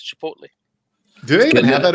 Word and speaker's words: Chipotle: Yeah, that's how Chipotle learned to pronounce their name. Chipotle.